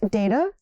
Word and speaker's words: data: Both data and data are correct.